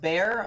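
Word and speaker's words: Bexar: here in a second XR is pronounced bear oh fun tell you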